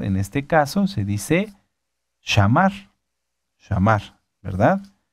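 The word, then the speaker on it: שמר: Guardar se dice shamar. Fíjense, en escuchar se dice shamá, ¿verdad? Ya lo dijimos que es la palabra 8085 de la concordancia Strong. Shamá, shamá. Bueno, guardar en este caso se dice shamar, ¿verdad?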